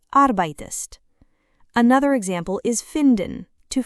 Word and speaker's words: arbeitest: It is not arbeitst, it is arbeitest.